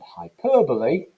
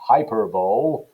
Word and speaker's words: hyperbole: some examples both headlines use direct address and hyperbole incidentally that's the way you pronounce it not hyperbole hyperbole to suggest the supposed weakness of women's